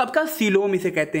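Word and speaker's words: coelom: आपका बेसिस है तो आपका सीलोम इसे कहते हैं। ठीक है, सीलोम, इसे कोएलम भी कह सकते हैं, लेकिन हिंदी में कह रहे हैं, इसका जो प्रोनाउंसिएशन रहेगा वो आपका रहेगा सीलोम रहेगा।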